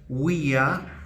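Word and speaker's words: via: Por ejemplo, vemos acá un sustantivo uia. Recordemos que la v corta se pronuncia como u, uia, uiai, femenino, y esto significa calle, o también lo podemos traducir como camino.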